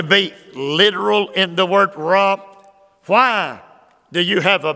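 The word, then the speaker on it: רע: Let me give you that word for sad, both in verse 1 and it's repeated in verse 2, raw. It is spelled R-A, it is spelled R-A-H.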